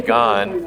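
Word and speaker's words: Gann: But I was saying earlier when we were chatting, one of the great aviation authors ever, Ernie Gahn, I just found out that's how he pronounced his name, said he was amazed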